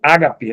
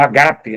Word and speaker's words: ágape: verdadeiro agapau, de um verdadeiro ágape, né, ou agape, né, depende da questão da pronúncia e tal, no sentido cristão.